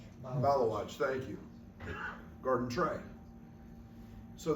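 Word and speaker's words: Maluach: And they had their big kid, I don't know how to pronounce his name, Malawach, thank you, Garden Tray.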